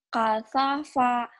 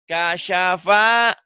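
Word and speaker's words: كَشَفَ: Kasafa. Shin. Kasyafa. Kasafa. Shin. Belum keluar dia shinnya. Kasyafa. Sya. Kasyafa. Lidahnya lebar, bukan lebar. Kayak orang gosok gigi.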